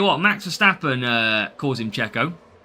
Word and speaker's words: Checo: It's pronounced Checo, not Sergio. I'm calling what I want. But I'll tell you what, Max Verstappen calls him Checo.